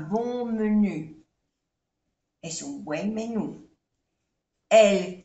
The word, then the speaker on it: bon menu: Aquí hacemos la unión, la liaison. C'est un bon menu.